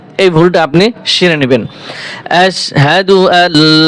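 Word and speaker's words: أَشْهَدُ: আশহাদু আশহাদু এখানে দেখেন হামজাশিন জবর আশ হা জবর হা কি হয়? তাইলে আশহাল পেশ আশহাদু আশহাদু সাদু হবে না আশহাদু আজকে থেকে এই ভুলটা আপনি সড়ে নিবেন। আশহাদু লা ইলাহা আশহাদু আল্লা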